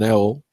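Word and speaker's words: Auel: there's an American Author her name is Jan L it's written a u l e but it's pronounced L uh she lives in Washington state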